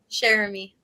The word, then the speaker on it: Cheramy: you before we started how do I pronounce your last name so I say it right Jeremy Jeremy okay Jeremy plays Julie